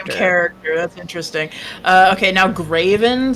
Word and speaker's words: Graven: Okay, now Graven, spelled like Gray and then V-E-N. Gray, V-E-N, Graven.